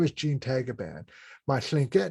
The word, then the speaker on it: Tagaban: In the Philippines, is pronounced as Tagaban.